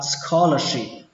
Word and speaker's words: scholarship: Các bạn lưu ý ở đây là âm sờ nhé, không phải là âm sờ, không phải là scholarship, mà nó là scholarship, scholarship. Xuống giọng âm cuối cùng, scholarship.